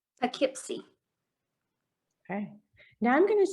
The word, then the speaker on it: Poughkeepsie: Okay, so what we're going to do is we're going to put these together and say it like this, Poughkeepsie. Poughkeepsie.